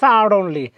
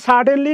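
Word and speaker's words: sudden: এরপরে কি বলছে দেখেন সাডেনলি এটা আমরা বলি সাডেনলি না উচ্চারণ হবে সাডন এটা যদি আপনি একদম ওদের মত উচ্চারণ করেন তাহলে হবে সাডন এবং এটা যদি আপনি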